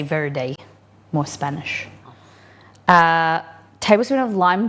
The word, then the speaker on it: verde: In Portuguese, you would pronounce it verge, like you know, you put something on your verge, the front of your house.